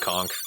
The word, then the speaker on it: conch: Is it conch or conch? Leave us a comment. I've heard it's supposed to be pronounced conch, but it ultimately doesn't matter.